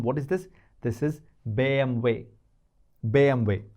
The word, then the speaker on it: BMW: have watched chapter 5 alphabet b m way bway that's how they say German car bway they don't call it BMW right bway if you ask any German what is this this is bway bway not BMW so I would suggest you